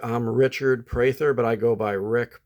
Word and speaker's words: Prather: my name is pronounced Prather p-r-a-t-h-e-r but there's a long a so it's pronounced as if it's spelled p-r-a-y like you pray in church even though there's no